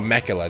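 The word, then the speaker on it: Miquella: Oh, Mekula, that's how you say her name.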